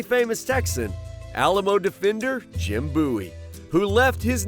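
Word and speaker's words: Bouie: And we say, well, wait a minute, Bowie is spelled B-O-W-I-E. Yeah. In Spanish, there is no W. Somebody can pronounce B-O-U-I-E as Bowie.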